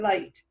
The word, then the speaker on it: light: Did you know that a GHT sometimes says a T sound? It sure does. So tight. All the rest of the letters in the middle are silent. The GH is silent.